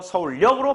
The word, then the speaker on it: 서울역: 서울에다가 뭐 만났다? 여기 있지? 그럼 이것도 마찬가지야. 받침절 다음에 여기 왔다. 소리상 니은이 첨가되는데 이때 앞에가 리을이 왔죠? 이거는 유음화가 또 적용돼. 리을 앞에 니은이 오거나 리을 뒤에 니은이 오면 니은이 리을되는 현상. 알겠습니까? 그래서 서울역으로 발음하게 된다.